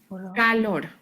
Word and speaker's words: calor: When I said color, I was pronouncing the O, so my lips were kind of rounded. So color, Color. calor. So your mouth kind of drops for that.